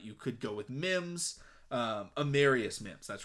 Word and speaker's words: Amarius: Georgia has Arvarius Mims, I believe is how you pronounce it. I might be messing that one up, but you could go with Mims. Amarius Mims, that's right.